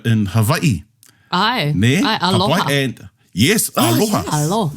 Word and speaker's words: aloha: Ai, aloha.